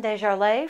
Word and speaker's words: Dejarlais: With me today is author John Dejarlais from Kishwaukee College.